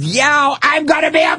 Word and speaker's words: Yao: Now I got cow rhyming with Yao.